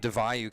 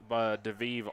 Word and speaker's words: DeVayu: We have DeVayu coming up now that we know how to pronounce his name. Which, by the way, I've called him DeVive all tournament long, and so I apologize for that.